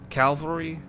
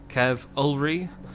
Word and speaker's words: Cavalry: that I pronounce Cavalry I'm not trying to say um Calvary as in the c-a-l-v variant I am trying to say Kev ulri but keep in mind